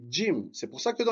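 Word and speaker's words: جيم: suivante le jim et attention c'est pas gym d'accord certains prononce gym non c'est jim c'est pour ça que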